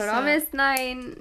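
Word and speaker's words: fromis_9: The Korean is different than... Yeah, well, it's because they don't have the letter F in Korean, so. I know. I guess. Promisnain. Yeah, there we go. Promisnine.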